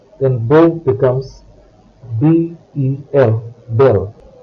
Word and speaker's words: bel: then beau becomes B-E-L, belle. Belle, B-E-L-L-E, is used with feminine nouns. B-E-L, belle, and B-E-L-L-E, belle, have a very similar pronunciation.